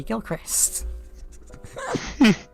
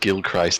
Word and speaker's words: Gilchrist: irrational fear of emily gilchrist you know it makes way more sense for that name to be pronounced gilchrist but i have said gill christ every day of my life up until now well